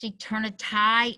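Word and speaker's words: eternity: a slide desert of vast eternai is the way it would have been pronounced in Shakespeare's day thy Beauty shall no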